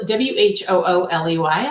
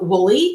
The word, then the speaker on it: Whooley: It's spelled W-H-O-O-L-E-Y. A lot of people want to call it Whooley, and it's really Whooley.